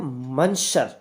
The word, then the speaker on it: monsieur: Spelling है मंशर, ठीक है, इसको जो प्रोनाउंस करेंगे हम मशर, ठीक है, इसको प्रोनाउंस करेंगे हम मशर, ठीक।